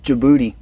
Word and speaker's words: Djibouti: to tell you the name it's called dude Djibouti yeah that's I looked it up I listened